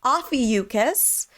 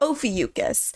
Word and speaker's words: Ophiuchus: But they provide two pronunciations for the constellation, which we've been using so far. So Ophiuchus or Ophiuchus.